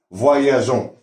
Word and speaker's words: voyageant: On laisse un ESC pour que se prononce voyageant.